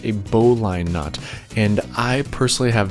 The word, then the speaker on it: bowline: knot that we have to create is actually pronounced a bowline knot and i personally have very little experience